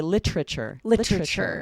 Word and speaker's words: literature: Some people will say literature, and they remove that syllable, right?